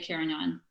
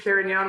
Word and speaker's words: Carignan: you have to say Carignan? You have to say there's Carignan and Carignana, I believe, are both there, but I use the Spanish pronunciation because that's who I am.